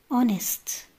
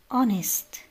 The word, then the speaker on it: honest: وأيضا حرف الإتش إذا جاء في أول الكلمة وبعده أو إن لا ينطق. مثال: honest honest، honor honor.